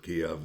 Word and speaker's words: Kiev: over there in kiev i like to to pronounce it kiev that's the way we grew up pronouncing it whether it's right or wrong that's the way we irish said that name anyways as i sat